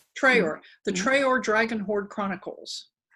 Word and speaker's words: Traer: Is that how you pronounce it? Traer. Traer.